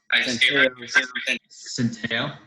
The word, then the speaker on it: Centio: And joining us on the show today is Centio. Did I say it right? Centio.